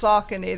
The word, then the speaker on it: Saucony: Everybody pronounces it differently. What is it again? It's Saucony.